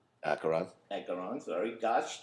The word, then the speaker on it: Acheron: Ankaron. Acheron. Acheron, sorry. Gosh T, my Brooklynism. This band, I cannot pronounce the name.